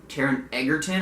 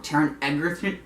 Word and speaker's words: Taron Egerton: he would probably be the kid from Kingsman, Taron Egerton. I always pronounce his name wrong. Taron Egerton.